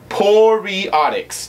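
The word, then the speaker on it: Poreotics: That's the only thing that it just makes me so happy for Poriotics.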